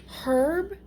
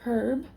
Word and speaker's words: herb: So, people who are not American, I don't know if all of them say herb, they pronounce the H in herb, in herb.